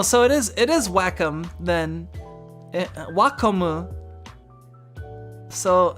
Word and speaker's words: Wacom: is wacom then so so it's it's basically like if if you're pronouncing that in in english the closest thing you would pronounce it with an ink with english uh with english phonemes would would probably be closer to to to wacom or wacom um you know as opposed to guacomo of course it's